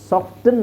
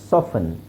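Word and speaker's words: soften: ಮಾಡಬೇಕು ನೆಕ್ಸ್ಟ್ ಇಲ್ಲಿ ನೋಡಿ ಸಾಫ್ಟನ್ ಸಾಫ್ಟನ್ ಅಲ್ಲ ಸಾಫನ್ ಸಾಫನಿಂಗ್ ನೆಕ್ಸ್ಟ್ ಮಾಯಸಟನ್ ಅಲ್ಲ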